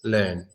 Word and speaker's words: learn: the evac in Russian it's not the same at all it's not yet it's not yo it's not your own it's just learn learn learn okay so